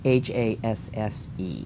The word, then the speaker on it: Hasse: The first woman I want to talk about is Adelaide Haas, or Hesse. I've heard it pronounced both ways, and I've never really delved much deeper into figuring out how to pronounce it. It's Hasse is her last name.